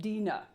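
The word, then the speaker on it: Dinah: Yes, he did have multiple wives and concubines and in particular his one daughter Dina or as the audio book is pronouncing it Dena and her mother Leah and her auntie Rachel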